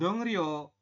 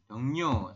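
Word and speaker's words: 동료: tetapi anda membacanya bukan dong ro Kenapa sem karena ada I yang di akhir ketemu dengan R maka R berubah bunyi menjadi n Jadi anda membacanya bukan dong ro tapi dong dongnyo seperti ini Ya kalau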